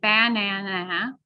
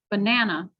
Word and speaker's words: banana: So we don't say banana. We don't stress every single syllable. We only stress the middle one, banana, right? You can hear it. It's said a little bit louder, a little bit longer, and the vowel and the consonant are pronounced clearly, banana.